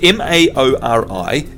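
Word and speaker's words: Māori: not that which is m-a-o-r-i is Maori and the easiest way to get people to sort of get anywhere near that is to for them to say moldy so it's actually called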